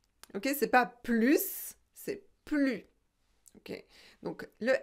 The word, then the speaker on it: plus: devez mémoriser c'est que on ne prononce pas le s ici d'accord elle n'en peut plus plus ok c'est pas plus c'est plus ok donc le s